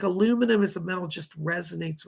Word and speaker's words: aluminium: But the modern day metal for Aquarius is aluminum, or as the British say, aluminium.